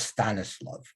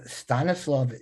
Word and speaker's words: Stanislav: Now, Ivano-Frankivsk used to be called, I use the Yiddish pronunciation because I could say that better than the Polish pronunciation, but that was Stanislav.